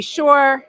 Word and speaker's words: Shore: everyone my name is Shore rhymes with entrepreneur and I have been